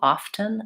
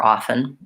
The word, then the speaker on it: often: te pronunciation because the the T is silent in that word but I do sometimes hear even Native American speakers pronouncing that T often I prefer often so again that would